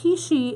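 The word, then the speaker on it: heishi: And it's hishi. It's a African bead, and it's spelled H-E-I-S-H. Hishi bead.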